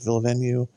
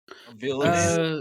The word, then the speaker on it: Villeneuve: think, how do you pronounce his last name? Is it Villeneuve? Villeneuve.